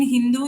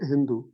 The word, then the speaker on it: Hindu: The Mohammedans pronounced SHH. Pronounced SHH. Instead of Sindhu, they made it Hindu.